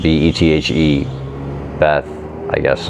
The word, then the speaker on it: Bethe: Another intriguing notion comes from John von Neumann, a mathematician and scientist described by Nobel laureate Hans Bethe, I guess is how you pronounce it, B-E-T-H-E, Bethe, I guess is how you pronounce it, as perhaps, quote, the smartest man who ever lived.